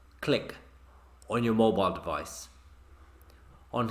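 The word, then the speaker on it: Cliq: system then get dissolve Oh click app it's pronounced CL I Q click on your mobile device on here on the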